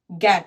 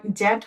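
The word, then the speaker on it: get: এইবার আমরা যদি এরকম একটি শব্দ নিই, গ গ্যাট, এটি জ্যাট হবে না।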